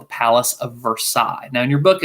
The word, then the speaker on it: Versailles: that it's actually pronounced versailles it's pronounced for sales in kentucky but in france it's versaille and at the palace